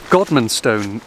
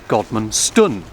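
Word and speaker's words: Godmanstone: Godmanston is a fantastic village name, and I just pronounced it wrong because it's Godmanston, because tun means farm, and I suppose Godman was a landowner here long ago.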